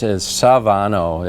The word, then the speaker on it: Svanøy: Americans, you know, and they want to turn it from 2 syllables into 3 syllables. Instead of saying Svanoe, to get the S and the V together is Svanøy is kind of how, and we oftentimes